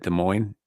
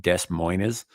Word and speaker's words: Des Moines: So when I was a kid, I always thought that Des Moines, the city of Des Moines was pronounced Des Moines, because that's how it's fucking spelled, and I pronounce things phonetically.